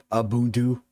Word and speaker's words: Ubuntu: Ubuntu flavor uh Ubuntu Ubuntu uh abtu however you want to pronounce it I say Ubuntu because when I was introduced to it it was said like that and it's stuck so there we go